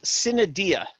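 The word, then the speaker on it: sine die: actually is for in we've Americanized it too it's sin Adia is actually the proper pronunciation and it means until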